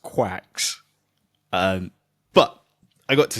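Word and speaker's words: GQuuuuuuX: opportunity to see Gundam It's like gux, but I think it's pronounced like I I I'm pretty sure I heard them pronounce it quacks. Um, and I think The Verge even mentions it in their article uh that it's like pronounced quacks.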